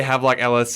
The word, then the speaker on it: Havelock Ellis: like sigmund freud and how do you say that havelock ellis h-a-v-e-l-o-c-k if you want to look it up yeah we'll say have like ellis um where they really